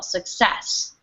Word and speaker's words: success: tongue circus good yeah just make sure you put the emphasis on the second syllable success success good excellent oh